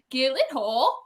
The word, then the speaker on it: Gyllenhaal: my name he's like if you pronounce it the way it's supposed to be it's actually gillette hole he like did it